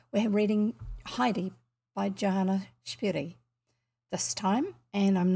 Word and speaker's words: Spyri: we are reading heidi by joanna johanna johanna shberry not the way i grew up saying it for some reason us as kids pronounced her name spry s s-p-r-y even though it's spelt s-p-y-r-i according